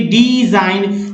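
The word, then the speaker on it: design: फिर देखिए डिजाइन, जिसमें GN लास्ट में है, तो डिजाइन में जी का उच्चारण नहीं हुआ है, तो डिजाइन।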